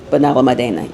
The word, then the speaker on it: Benalmádena: The food in Benalmádena, make sure I'm pronouncing it correctly. Benalmádena, yes.